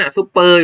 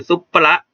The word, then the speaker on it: ซุปเปอร์: แต่ มัน อ่าน ว่า ซุปเปอร์ อยู่ แล้ว เนี่ย ซุปเปอร์ อยู่ แล้ว เนี่ย นะ ครับ นะ แต่ ตัว